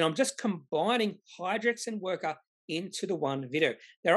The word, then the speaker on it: Wrkr: speak, and he calls this company, or he pronounces this company as Wrkr, W-R-K-R, which does give a slight clue about what this company does.